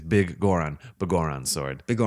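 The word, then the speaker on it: Biggoron: you been calling yeah I think it was bigger on for the longest time yeah no it's it's big Goren but gore on sword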